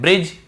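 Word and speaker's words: bridge: फिर देखिए हेज और वेज, यहां पर भी डी को हम नहीं पढ़ रहे हैं, ब्रिज, एज, हेज और वेज।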